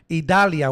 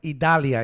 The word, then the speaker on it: Idalia: Idalia, we call it Idalia. In Spanish, it's Idalia. And yeah, people call it Idalia and blah, blah, blah. But I call it Idalia.